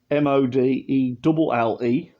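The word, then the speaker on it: Modelle: It's actually pronounced M-O-D-E-L-L-E. Model.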